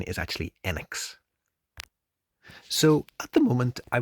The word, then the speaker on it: Enix: but in Japan in Japanese uh the correct pronunciation is actually enex so at the moment I would say the